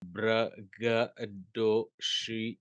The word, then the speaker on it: braggadocio: सबसे बॉटम में देखिए ब्रैग, सेकेंडरी एक्सेंट है क्योंकि अपोस्ट्रोफी है। ब्रैग दैट इज स्क्वा, तो ज्यादा इस पे गौर नहीं करेंगे प्रोनाउंसिएशन में। डो, डी ओ, डो, यहां पे देखिए ओ के ऊपर में वो ब्लैंक का साइन है, इसका मतलब है कि साउंड एक्सटेंडेड नहीं होगा, साउंड काफी फास्ट होगा, जैसे गो वैसे डो।